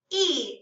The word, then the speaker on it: y: how we spell it e it's just a Y and it sounds like he and it means and